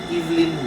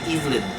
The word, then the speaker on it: Evelyn: then i learned that the british pronounce they don't say evelyn they say evelyn not evelyn so it's a guy's